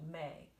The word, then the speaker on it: me: into a different syllable the syllable is called may and it's spelled m-e because it's italian me is gonna turn